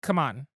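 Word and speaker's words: CMON: changed their name to, it's officially pronounced Come On, which is really dumb.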